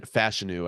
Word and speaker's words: Fashanu: So I have a faller as Olu Fashanu and Fashanu, actually.